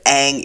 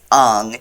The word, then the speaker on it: Aang: But like, the pronunciation of the main characters' names is randomly changed. Instead of Aang, it's Ang.